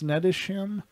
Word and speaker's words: Snettisham: That's literally, all right, how do you pronounce this? Snedisham? Snettisham.